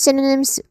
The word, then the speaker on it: synonym: Okay that is synonym pronunciation wise let's start with sin which is a stress syllable here it has a short e vowel sound too. Sin. Then sin. Give this part the strongest emphasis. Sin. And then followed by awar sound. Uh and then which is which also has a short e vowel sound. Synonym.